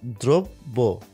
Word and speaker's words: দ্রব্য: দ্রব্য, দ্রব্য বেলা কি হচ্ছে, রফলা রয়েছে, তার মানে এর সাথে যে অ রয়েছে এই অটা কি হবে, ওকার হয়ে যাচ্ছে, দ্র, আর এখানে জফলা থাকার কারণে কি হয়ে যাচ্ছে, দ্বিত্ব হয়ে যাচ্ছে, তাহলে এখানে কি হয়ে গেল, দ্রব্য।